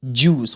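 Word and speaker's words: juice: ج اوس جوس، خد بالك ان حرف الجي ما اقولش جا، الج حط دي الاول الجوس.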